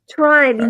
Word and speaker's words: Trine: because it rhymes with fine. I think she wrote that one day because we were quoting her or him. Sorry, and Them. it was trine. I think it was like rhymes with mine.